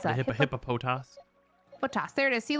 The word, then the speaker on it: Hippopotas: How do you pronounce The that? hippopotas.